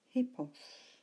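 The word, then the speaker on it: ἵππος: Look at the next one, and notice in particular the rough breathing over the initial iota, which tells you that we pronounce this word beginning with an H. Ho, hippos.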